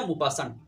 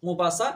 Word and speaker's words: Maupassant: তার পুরো নাম হচ্ছে অনেক লম্বা, হেনরি রেনরি আলবার্ট গিদা মুপাসান্ট। এই মুপাসান্ট বা মুপাসা বাংলার মধ্যে এই নামের বানানটা পরীক্ষার মধ্যে আসে।